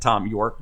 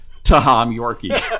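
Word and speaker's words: Thom Yorke: Because Taylor used to, among other things, poke fun at Tom York by pronouncing his name, wait for it, Taham Yorkie.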